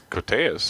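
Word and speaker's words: Koteas: a Elias codus kotas how do you say it I think it's cotas cotas yeah Casey Jones and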